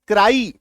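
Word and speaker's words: cry: जैसे सी आर वाई सी आर वाई इसका उच्चारण क्या करते हैं? क्राई क्या उच्चारण करते हैं आप? क्राई यह उच्चारण करते हैं। क्या उच्चारण करते हैं? क्राई यानी कि आकार की मात्रा य देखो। आई है ना?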